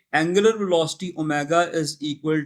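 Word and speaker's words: omega: bye symbol ड एंड you pronounce it एज ओमेगा आपको याद रखना है कि आपने इसको ओमेगा प्रोनाउंस करना है आगे आने वाली क्लास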